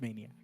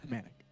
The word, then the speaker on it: Manic: And after that, everyone just called me, they mispronounced Manic. They were like, your name is Maniac. I was like, no, it's not Yeah. Manic. Because no one can pronounce Manic, M-A-N-I-C. They'll think it's Maniac.